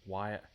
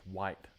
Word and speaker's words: White: Wyatt. My name is White. Like the color wh hi T.